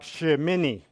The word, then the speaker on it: Shemini: still asleep so anyway the torah portion this week is pronounced something like shimini and it means 8th or the 8th and at the start of the torah portion in leviticus 9.